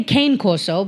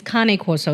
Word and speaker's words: Cane Corso: Americans say Cane Corso, but the real pronunciation is Cane Corso.